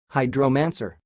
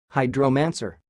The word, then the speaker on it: hydromancer: the word you see it sounds like hydro-man sir hide romancer I will repeat it